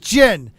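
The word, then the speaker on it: Jinn: hold on uh it's pronounced damn it it's pronounced gin like I can never say his name either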